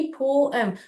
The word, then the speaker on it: poem: पोम, पोएम ऐसे pronounce करते हैं. Okay, the pronunciation should be पोएम. पोम नहीं बोलना चाहिए, पोएम, पोएम. ओके, यहाँ पर डिवाइड हो रहा है सिलेबल, पो और एम, पोएम. Okay, that's how you pronounce it, ओएम.